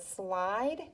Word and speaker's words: slide: Okay, and then we have the word slide. There's a vowel consonant E pattern. You have an I, D, and sneaky E. That E is silent, but it allows the I to say its name.